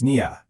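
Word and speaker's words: نية: Now, this whole concept has a name in Arabic, niyya. It's pronounced niyya, and it basically means the intention you hold deep in your heart right before you do something.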